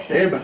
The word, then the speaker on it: Heba: Yes, okay, I'm pronouncing it wrong because I was saying Hebrew. I think you said Heba.